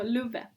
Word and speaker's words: Luve: My second is Luve, which is spelled exactly like love, which is why you can't really spell it. So Luve.